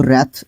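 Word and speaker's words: wrath: यहां पे रैथ डब्ल्यू के बाद जब डब्ल्यू के बाद जब आर आता है तो वह आपका ऑलमोस्ट जो डब्ल्यू है अह क्या हो जाता है? साइलेंट हो जाता है। तो रैथ इसको पढ़ते हैं।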